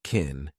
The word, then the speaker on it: can: Can in this sentence is an auxiliary verb, so we pronounce it unstressed, and it sounds like kin. Kin you, kin you, and you can make that unstressed too and reduce it to ya.